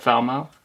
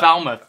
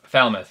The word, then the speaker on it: Falmouth: race fat sound good foul mouth yes foul mouth no Falmouth Falmouth yeah it is yeah